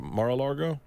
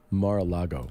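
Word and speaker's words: Mar-a-Lago: Is it Marago? Mara Lago. I actually don't know how to pronounce anything without a beer in my hand.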